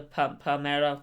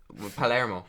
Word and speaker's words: Palermo: The Palmero. Yeah, 2-0. Pretty sure pronouncing that wrong. Palermo.